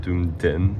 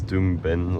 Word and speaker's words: Doomben: I don't know why I always thought it was called Doomden. It's Doomben.